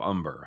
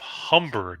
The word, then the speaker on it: Humber: you couldn't use philip umber huh it's philip humber not umper no they actually this number it's not it's spelled with an h but you don't pronounce it just like mine yeah